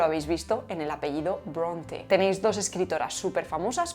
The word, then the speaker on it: Brontë: Pues esa diéresis nos dice que hay que pronunciar esa E final, que no es muda, como sí lo son la mayoría de las E finales en inglés.